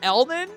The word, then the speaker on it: Elman: That is how you say his name. Elman.